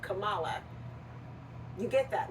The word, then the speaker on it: Kamala: all is Kamala not kamla oh wait no it's the way other it's kamla not Kamala you get that right